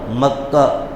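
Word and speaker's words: مكة: اس کا مقام بتلایا، بکہ، بکہ مکہ، دونوں تلفظ لغت عرب میں مستعمل ہیں، مکہ بھی کہتے ہیں، بکہ بھی کہتے ہیں۔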